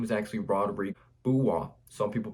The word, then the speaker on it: Rodrigue Beaubois: So this dude coming out 6 foot, 40-inch vertical, 6'10" wingspan, and his name is actually Rodrigue Beaubois. Some people pronounce his name Beaubois.